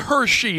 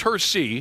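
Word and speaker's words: Hersey: Or Yeah, it wasn't Hershey. It was Hersy.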